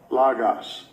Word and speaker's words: logos: So first of all, we get the correct pronunciation on the word. Strong's G 3056. Logos.